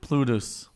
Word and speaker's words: Plutus: Plutus. Oh, I didn't know that. Oh wow. I think it's pronounced I told you it's Plutos.